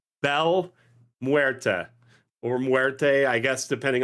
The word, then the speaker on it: Muerte: It's Bel Muerta or Muerte, I guess, depending on the pronunciation, right? Which would you prefer there? It's Muerte. Muerte.